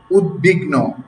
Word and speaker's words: উদ্বিগ্ন: এর সঙ্গে বফলা যুক্ত হলে উচ্চারণ স্বাভাবিক থাকবে।